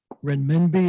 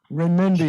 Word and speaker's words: renminbi: So your quote is, "Renminbi has risen, renminbi will go on."